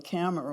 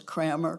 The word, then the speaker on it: Kammer: It used to be hard to be Kammer when I was a Kammer, because nobody would ever say it correctly. You know, it was Kramer, Kramer, Cameron. It could be almost anything but Kammer.